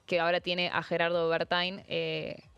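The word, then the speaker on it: Werthein: ahora tiene a Gerardo Bertain, eh porque se pronuncia Bertein, yo sé que yo sé que en alemán dónde viene que sí, a ver, eh antes estaba Diana Mondino, ¿no?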